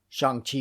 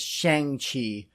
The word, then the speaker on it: Shang-Chi: And that is how it's pronounced, although I pronounced it as Shang-Chi for quite a number of years before learning its correct pronunciation.